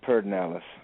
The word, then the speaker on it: Pedernales: spelled Pedernales, but in Texas we pronounce it Pedernales.